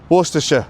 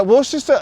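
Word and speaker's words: Worcester: Worsters. What's your sister? I I beg your bloody pardon, sir. I love British pronunciation so wild. Yeah, Worchester is a weird one.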